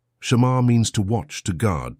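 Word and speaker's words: שמר: Pronounce it with me in a low voice wherever you are. Shamar. Shamar means to watch, to guard, to protect.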